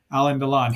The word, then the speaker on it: Alain Delon: this is starring alen Alan donon and I did talk to somebody about the pronunciation of that and even though it has an i in it it's Alan donon he was a very